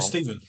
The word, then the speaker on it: Stephen: Hi, Stefan. How are you? Steven. Yeah, Stefan. good, thanks. Did I say it right? Is it Steven or Stefan? I always get the PH yeah, wrong. Stephen. Stephen.